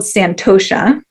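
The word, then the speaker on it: santosha: treat others um one of them is called santosa or that's how to say it in Sanskrit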